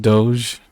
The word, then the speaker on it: Doge: And if they do, then he'll just bring dog in and cut their numbers. It's pronounced Doge.